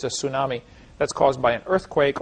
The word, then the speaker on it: tsunami: Says for 200 Argentinian pesos, Dapper, I want to pronounce tsunami with a TS because that's how it's supposed to be.